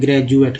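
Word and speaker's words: graduate: जैसे लॉज, जैसे नहीं, लॉज में भी आप समझ सकते हैं, लेकिन एक सिंपल वर्ड देते हैं ग्रेजुएट का, ग्रेजुएट में डी को ज उच्चारण किया गया।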